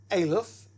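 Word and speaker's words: א: And if you look at the pronunciation, that particular letter is silent. It doesn't make sound. Now, in reading, we'll show you that later, but there's no sound for that letter.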